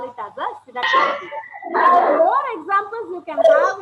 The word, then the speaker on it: synecdoche: Okay, next one is synecdoche. You have to pronounce this as synecdoche. It's not synecdoche. You have to pronounce it as synecdoche.